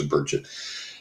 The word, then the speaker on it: Burchett: One year they got Congressman Tim Burchett, however you say his name, I think it's Burchett, and he was really forthcoming on that.